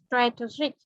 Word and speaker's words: strategic: Trọng Chị vào tưởng chữ A này âm là âm E bẹt nhưng mà chị cứ đọc là strategic. Vâng, cái này thì danh từ của nó đọc khác mà tính từ của nó đọc khác. Nếu mà danh từ nó đọc là strategy thì đúng là âm e bẹt, đúng không ạ?